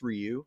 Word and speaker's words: Ryu: gave me the role, they said, at Capcom, they said, okay, it's pronounced Ryu.